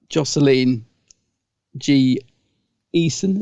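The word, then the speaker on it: Jocelyn Jee Esien: I was going to say, now, no offense to Jocelyn G. Eason, is that how you say her name?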